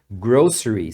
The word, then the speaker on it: grocery: os produtos de supermercado essa palavra Inclusive tem duas pronúncias você vai ouvir falantes nativos pronunciando grocery e outros pronunciando grocery como se fosse um X aqui no lugar do c então tem as duas pronúncias cada região fala de um jeito grocery ou grocery